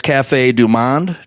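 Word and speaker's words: Café du Monde: went to this place Cafe Du Monde is how you say it it's a famous place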